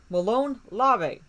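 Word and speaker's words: molon labe: in america that is malone larvae malone lava m-o-l-o-n-l-a-b-e looks like lob-a but it's pronounced larvae technically it means come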